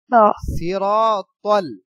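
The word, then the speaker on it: صراط: আচ্ছা এরপরে যে শব্দ আছে তা ত ত সিরাতল সিরাতল সিরাতল সিরাতল এই তর ক্ষেত্রে এই ত উচ্চারণ হবে সিরাতল মুস্তাকিম সিরাতাল মুস্তাকিম তা যখন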